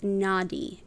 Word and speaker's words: Nadi: system than seven chakras this helps with the Nadi in English it's spelled n-a-d-i and those are the very very